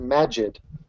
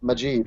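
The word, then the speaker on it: Maajid: he is telling me that his name is pronounced Magid and I've been pronouncing it maib for for like a long time and I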